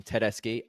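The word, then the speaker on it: Tedeschi: I host the unofficial Tedeski Trucks Italian pronunciation, Tedeski.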